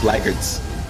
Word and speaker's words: Blackguards: I think she just said blackguards. Blackguards. That's how they pronounce it, yeah.